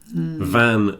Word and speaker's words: van: there's also van and ban van v an a a type of transport yeah and B an is a Prohibition like a smoking ban when you're not allowed to smoke in the bars so the difference between the V and the B is important and I recommend that